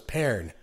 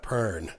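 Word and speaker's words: Pearn: say his last name I was always taught it was paired not burn right and so I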